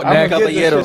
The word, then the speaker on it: Caballero: No, Caballero.